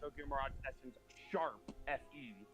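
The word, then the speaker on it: Tokyo Mirage Sessions ♯FE: I I hate how it's actually pronounced because it's actually pronounced Tokyo Mirage essence sharp fe.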